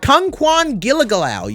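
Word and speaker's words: Kungkuan Giljegiljaw: power hitter especially on All-Star next we have Kung Kwan gilligalau yes that's how you pronounce his name I will say he might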